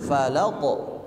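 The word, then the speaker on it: فلق: Qul auzuabbil Falaq nah Falaq ketika diucapkan Jangan ditekan Pak jangan Falaq falaqqo karena tidak ada tasdid tapi dia langsung memantul Falaq Falaq ya pantulannya terdengar jelas suara laq laq ya jangan ditahan bacaan laq Qul auzubirabbil Falaq Qul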